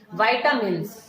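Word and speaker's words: vitamin: बच्चों तो कल हमने एंजाइम्स किया था, तो आज हम करेंगे विटामिन। ठीक है, वाइटामिन होता है, वैसे उसकी जो सही प्रोनाउंसिएशन होती है ना बेटा, दैट इज वाइटामिन।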